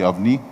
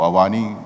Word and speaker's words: Avani: We have the Avni or Avani, depending on how you want to pronounce it.